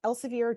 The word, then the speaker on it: Elsevier: Oh, so it was a noob asking if you can upload an article published in, I'm going to pronounce this wrong, Elsevier? Yes, Okay. Elsevier.